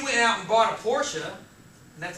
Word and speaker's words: Porsche: That you went out and bought a Porsche, and that's how it's pronounced.